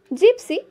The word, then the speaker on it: gypsy: Gypsy, G-Y-P-S-Y, gypsy, not gypsy.